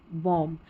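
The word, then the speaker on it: bomb: 39 पर हमारा spelling pattern है MB, इसमें इसको म पढ़ेंगे, B साइलेंट रहता है, ठीक है, थम, कॉम, बॉम्ब, अब B यहाँ पर लास्ट में है ना, ये साइलेंट, इसको पढ़ना नहीं है।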